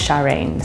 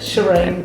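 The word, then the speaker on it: Sharene: So my name's Sharine, so it's spelled S-H-A-R-E-N-E. So it's from the 60s, so you imagine the hair, the eyelashes. Shireen, probably. No, Sharine's fine.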